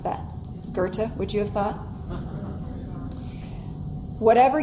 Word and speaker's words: Goethe: I had to look up how to pronounce that. Goethe, would you have thought?